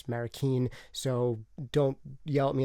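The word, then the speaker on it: Manny Marroquin: say his name is not actually american it's marikeen so don't yell at me in the comments below for saying his name wrong manny marrakeen and also jeff ellis was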